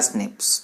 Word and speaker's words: SNPs: बोला single nucleotide polymorphism यानी SNPS, उसको प्रोनाउंस किया स्निप्स।